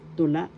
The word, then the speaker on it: tula: Number one is tula. Poetry in English tula. The second syllable la has the accent. First syllable to second syllable la the accent is the second syllable to la poetry